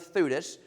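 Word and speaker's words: Theudas: That's why I call him Thudus. It's easy to remember. Thudas and Judas.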